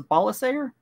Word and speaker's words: Balasager: I was told the pronunciation of her last name is different. Okay. I'm going to try and pronounce this. A good buddy of mine told me what it should be, and I will work to get that up here. Okay. What do you, he text you or something? Yeah. It's a Balasager. It's a soft G.